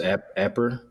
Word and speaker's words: Apperr: So, is it pronounced Apper?